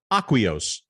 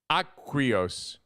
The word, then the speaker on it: AQUIOS: Did I say it right? Aqua. Say aqua. Aqua? AQUIOS. AQUIOS. Beautiful.